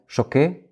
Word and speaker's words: Choquet: Did I pronounce this right? Choquet?